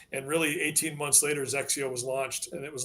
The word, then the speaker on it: XXIO: as soon as they conquered that we threw Zio at them um but kind of the Heritage behind our name is it's xxio it's pronounced Zio and xxi is the Roman numeral 21 and